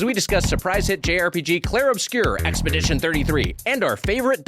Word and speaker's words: Clair Obscur: Hello, everyone, and welcome back to the premiere video game podcast, where this week we are talking about Clair Obscur Expedition 33.